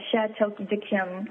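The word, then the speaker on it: Château d'Yquem: myself would be a shat to diim and that's I'll spell it for you it's c h a t e Au U and D apostrophe excuse me yq u e m a bottle of that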